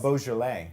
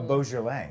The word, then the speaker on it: Beaujolais: Beaujolais. Oh, say it one more time. A Beaujolais.